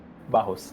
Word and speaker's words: Barros: How do you say it? It's Barros. Barros.